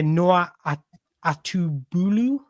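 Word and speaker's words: Noah Atubolu: much about him to be honest and that's Noah atubu that's how you pronounce it he plays for fryberg in Germany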